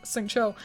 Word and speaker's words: Xingqiu: I said his name wrong. Xingqiu.